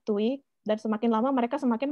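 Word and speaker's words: Tuohy: Dan seperti yang kita lihat di sinopsis tadi, pada suatu malam Michael itu ditemukan oleh keluarga Tui, ya, tulisannya Tuohi tapi bacanya Tui, dan semakin lama mereka semakin menganggap Michael menjadi anggota keluarga mereka, dan pada akhirnya mereka mengangkatnya menjadi anak mereka.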